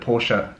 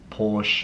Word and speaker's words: Porsche: that I say Porsche I know that Porsche is the right way to say it I sometimes I say Porsche sometimes I say Porsche I nobody you guys don't care there are some people out there like this person who is reminding me that it's a two syllable word well thank you so much for that I know it's a two syllable word Porsche ah nice one anyway